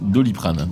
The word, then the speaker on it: Doliprane: Je crois, Ça, pardon, c'est qu'on un verre prononce Doliprane.